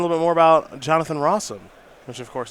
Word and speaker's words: Rosum: bit more about jonathan rossum which of course his name rhymes with awesome which will probably not